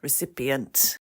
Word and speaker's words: recipient: one to pronounce recipient how many syllables has that got I think it's four do reent yes and